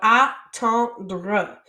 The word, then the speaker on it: attendre: So this one is pronounced like a, and then ton, and then dre. So attendre.